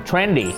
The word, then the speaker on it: trend: trendy นะ ครับ trendy แล้ว Trend เนี่ย จะ ต้อง ออก เสียง เป็น สระ เสียง สั้น ด้วย ถ้า เสียง ยาว ก็ จะ จะ เป็น เน ที่ หมาย ถึง รถ ไฟ รถ ไฟ เออ ไป ต่อ นะ